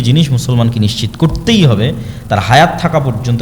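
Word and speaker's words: תורה: মুসা আলাইহিস সালাতু ওয়াস সালামের কওমকে যখন তাওরাত দেওয়া হলো, তোরাহ বলে ইহুদিরা, উচ্চারণ করে যে তোরাহ, যখন তাওরাত দেওয়া হলো,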